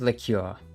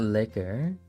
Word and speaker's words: liqueur: liquor there we go it is liqueur because it's not liquor it's liqueur it's spelled like that